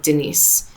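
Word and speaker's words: Deniz: I didn't do that my middle name in Turkish it's pronounced Denis it actually means ocean but it could be right as like Denise okay so she was like it could be like Denise Denise yeah and my sister's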